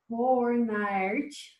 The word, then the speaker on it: Hoornaert: Ele chama Eduardo Hornaert, acho que é assim que se pronuncia, tá?